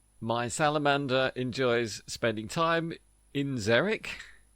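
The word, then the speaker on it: xeric: Well, sometimes an X is a zed, as in zeric, spelled with an X, but zed like a zed.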